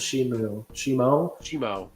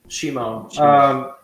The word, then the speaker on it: Shimo: I feel like Shimo or ShamWow, what's the pronunciation? Shimo, right? Or is it Shimu? Shimo. That's just Scar King's dog.